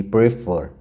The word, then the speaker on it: prefer: Prefer, o for é mais forte, então repete a última letra.